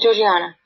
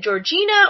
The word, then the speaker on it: Georgiana: Am I pronouncing her name right? Yeah, Georgiana. Because I'm never sure. Is it Georgina or Georgiana?